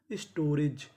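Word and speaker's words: storage: यहाँ पे जो ए है वो एक ही मात्रा का काम करेगा, और आखिरी में ई लिखा है। आपको पता है कि आखिरी में हम ई का उच्चारण नहीं करते।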